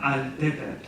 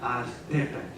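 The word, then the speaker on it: altepetl: L's are particularly noticeable there, not altepet, but altepet. But there were still too many unknowns.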